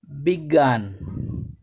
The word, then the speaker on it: বিজ্ঞান: বর্গীয় জয় ইয় এর বাংলা উচ্চারণ গ এর মতো হয়। উদাহরণ, বিজ্ঞান।